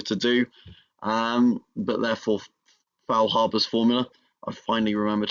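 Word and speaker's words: Faulhaber: Um but therefore, Foul Harbor's formula, I've finally remembered how to say it correctly.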